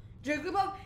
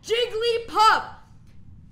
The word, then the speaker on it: Jigglypuff: Jigglypuff, it's 3 syllables! Jigglypuff!